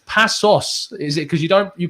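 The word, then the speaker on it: Paços: We are going to be doing a tactical breakdown on Matroy Jallo, the Pachos de Freya. Tell me, Pablo, that was probably a horrific pronunciation, but it's Passos.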